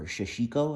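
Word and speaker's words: Sashiko: The 580 JP Burrow pack, or Shashiko, I believe is how that's pronounced.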